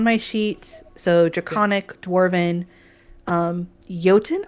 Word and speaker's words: Jotun: I don't know if you pronounce the J as a J in Galarian or not. I think it's Jotun. I do think it's Jotun. I think from it's. I would say with Jotun, it doesn't matter. There's no correct way, but given the origins linguistically, I think it's a Y.